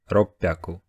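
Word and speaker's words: 六百: Kyu Haku Sanju go it seems simple but unfortunately there are some exceptions do Japanese people pronunciation of 300 600 and 800 seem difficult because to do so you had to say two syllables with voiceless consonants in a row so they made it easier to pronounce them by making 100 sound different this means that to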